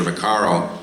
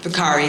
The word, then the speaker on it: Vaccari: He said, this is Monsignor Vaccaro. Vaccari. Vaccari, I'm sorry. Yeah. My wife and she's an Italian from Rome. Those those final syllables really matter.